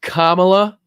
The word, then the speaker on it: Kamala: Person that votes for Kamala is crazy. She wouldn't go to see the prime minister. It's Kamala Harris.